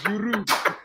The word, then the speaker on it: Giroud: Olivier Giroud. Olivier Giroud. No, because you don't pronounce the D because people are Giroud.